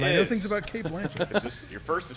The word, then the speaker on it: Blanchett: I know it's pronounced Blanchett.